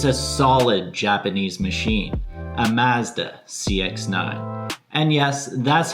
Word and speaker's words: Mazda: It's a solid Japanese machine, a Mazda CX-9. And yes, that's how it's pronounced everywhere in the world except for the good old US of A.